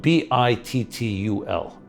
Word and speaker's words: bittul: I'll spell it B-I-T-T-U-L.